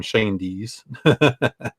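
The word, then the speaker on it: Schoendienst: with the Giants and that's how you say his name shane DS and this is a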